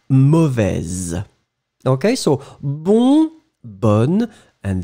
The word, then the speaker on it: mauvaise: and the feminine form, mauvaise. Okay, so masculine final S not pronounced, so mauvais. Feminine form, you will just by adding this E pronounce the Z in the end. Mauvaise.